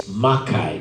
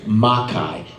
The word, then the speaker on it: Makai: the Makai nights and the director's like okay it's Makai nights like the stresses on the first so Makai not Makai so I was like M Night M night and she's like okay don't go up on night it's not maai nights it's maai nights like okay and that's